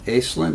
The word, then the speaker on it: Aislinn: Okay, we're back, and now I'm with Aislinn. Did I pronounce that right?